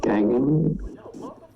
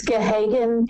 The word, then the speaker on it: Gahagan: So I'll order that home study be done on Erica Gagan. Maybe mispronouncing it. Is that? It's Gahagan, and the way that